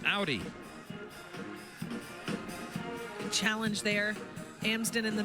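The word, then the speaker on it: Auður: name and this is Icelandic a du R pronounced Audi challenge there Amon in the middle coming out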